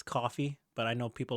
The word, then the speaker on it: Ko-fi: like to call it Ko-fi, whatever. But yeah, I know what you're talking about. Go on. Okay, but apparently they said on Twitter it rhymes with no fee, so you say it Kofi.